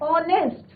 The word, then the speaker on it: honest: Because यहाँ पे sound किसका आ रहा है बच्चों, वोवल साउंड आ रहा है, ऑनेस्ट. एच क्या है यहाँ पे, साइलेंट. तो अभी हमने पॉइंट्स कौन